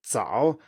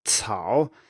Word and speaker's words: 早: If you, for example, put your hand in front of your mouth and you say 早 and it comes out as 草, then you have actually pronounced Pinyin C instead of Pinyin Z. So this is called aspiration.